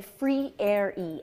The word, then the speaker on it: Freire: let me just say we say free air e f-r-e-i-r-e free areas how you